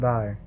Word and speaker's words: die: Die, pronounced D. You visualize in English as D-E. Die.